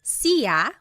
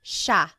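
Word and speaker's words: siya: It looks like it should be pronounced sa, but it's actually pronounced sha sha.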